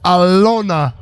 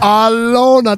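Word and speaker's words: Alena: A L E N A, but spelled but pronounced Alona. Alana. Alona.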